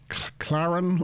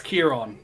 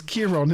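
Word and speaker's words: Ciarán: to let you try it's kieron it's Kiron is it I couldn't tell if that was an i or an L from this distance it's yes the hard C in Irish there's no K in Irish and there should be a f on the second a same as there is on my name that's why Sean sh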